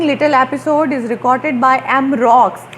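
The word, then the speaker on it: Roux: एंड an interesting little episode is recorded by M rocks, ये हम इसको rocks पढ़ते हैं, एमरॉक्स पढ़ते हैं, लेकिन इसकी फ्रेंच प्रोनाउंसिएशन है एमरू। बोलेंगे हम इसको एमरू, क्योंकि फ्रेंच जो हैं वो इसको रू बोलते हैं।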